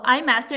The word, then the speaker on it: iMaster: the Eye Master is our product brand so I master nce is the way how you say it